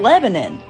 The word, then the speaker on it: Lebanon: no it's milin milin oh you know like the country Lebanon no it's goddamn Lebanon oh you know lafette